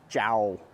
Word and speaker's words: Chao: going to take a look at what San jao it's spelled ciao but it's pronounced Zhao we're going to take a look at what